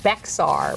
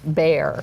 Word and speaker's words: Bexar: which includes San Antonio, I pronounced it as it is spelled, Bexar, but that only proved that I'm an ignoramus because it is pronounced Bear.